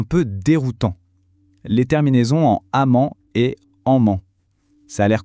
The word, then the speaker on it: -emment: Le petit piège, c'est que les deux se prononcent exactement de la même : -amment.